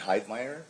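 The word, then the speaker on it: Heidmeyer: Wi L I A M and Hide Meer.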